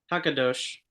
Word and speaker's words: HaKadosh: Our sages, in their great wisdom, informed us of this truth, though referring to God as Hakadosh. I think that's how you pronounce it. Yes, perfect.